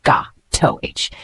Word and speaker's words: gâteau: Let's pronounce it together, gâteau.